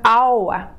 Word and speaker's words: hour: Слово час пишется как хаюр, но читается как hour, это час. Поэтому в обоих этих словах мы будем ставить N, потому что H не читается, а следующий звук это O, гласный звук.